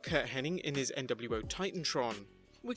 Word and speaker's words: Curt Hennig: with many fans still remembering it as Kurt Hennig when it was actually Kurt Hennig.